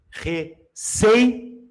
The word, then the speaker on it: receio: Qual é a sílaba tônica aqui? Ó? Receio. Olha aqui. Receio. É uma paroxítona.